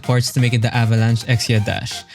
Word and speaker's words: Avalanche Exia Dash: By the way, the text says Gundam Avalanche Xiaprophe, but it's actually pronounced Avalanche Xia dash. In Japanese, it's dash.